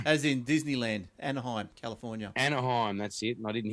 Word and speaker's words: Anaheim: The Anaheim, as in Disneyland. When I read the article. Yeah, as in Disneyland, Anaheim, California. Anaheim, that's it.